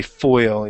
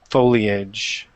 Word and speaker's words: foliage: the foe first okay you don't say foil you say foe foliage foliage all right when